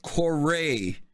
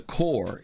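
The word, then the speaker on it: Kore: Kourei and the Mako, not the Mako. Everybody says Mako and the core.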